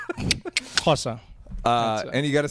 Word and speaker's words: Xhosa: Yeah, it's a click. Xhosa.